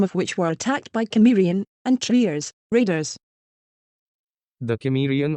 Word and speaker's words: Cimmerian: And so many English pronunciations would seem to be Cimmerian. However, it looks like the original wording was meant to be spoken with a hard C, or what we today call the K sound.